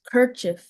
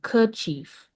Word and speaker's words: kerchief: Your word is kirchief. Kirchief. Can I have all the information? Can you put your hands up? Okay, cool. Kirchief. Um, so it has a few pronunciations. Kirchief. Kirchief. Kirchief or Kchief.